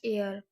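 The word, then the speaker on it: heir: Next है dash एयर means यहाँ पर एन आर्टिकल का यूज हुआ है क्योंकि यहाँ पर एच साइलेंट है और ई वोवल साउंड से स्टार्ट है।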